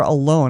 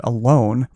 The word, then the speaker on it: Alon: Okay, so the next one is Alon or Alone. I knew a guy one time. It's Alon, and he pronounced it Alone, but it could be Alon.